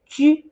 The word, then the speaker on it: 车: So, but I have to say, 车 does not always pronounced as 车. In ancient times, it actually have another pronunciation. You don't have to remember it because well, I doubt you would ever use that a lot. So in ancient time, it also pronounced as 居.